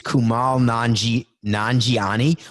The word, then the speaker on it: Kumail Nanjiani: out on Netflix yesterday called the lovebirds with Kumail Nanjiani who's gone it's Kumail Nanjiani what khoka so I can't pronounce names you know this khoka put it